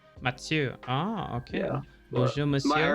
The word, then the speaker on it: Mathieu: Oh, it's the French version of Mathieu, and it's just pronounced Mathieu. Mathieu.